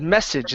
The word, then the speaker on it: message: Next up, we have the word message instead of message. Okay, remember the E at the end of this word is silent.